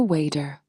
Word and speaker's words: water: For example, you do not pronounce the sharp T in the word water. Instead, you say a wader.